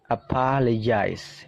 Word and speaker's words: apologize: Oke silakan dengarkan baik-baik apologize nah di situ dibaca je ya Ada simbol aneh seperti itu dibaca je apologize teman-teman bisa aplikasikan pelajaran